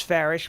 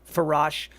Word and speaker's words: Farash: So my last name is Farish, but it's spelled Farash. A lot of people pronounce it Farash, and its ancestry comes from Turkey.